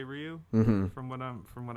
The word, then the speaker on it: Ryu: whenever i learned like i learned that the actual way was to say ryu from what i'm from